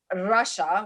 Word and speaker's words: Rasha: I was an Arab girl named Rasha, which is how you say it in Arabic, in the 70s in the South.